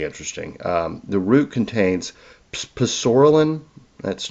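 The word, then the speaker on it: psoralen: Um, the root contains poralin. That's not the way you pronounce it. The P is actually silent but I wanted to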